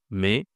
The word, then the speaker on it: mai: La pensation ici, c'est mais mais c'est le son hein, c'est la voyelle. Et mais attention, ce n'est pas ma Attention à ma. Dans certaines langues, on dit ma mais ici on dit mai.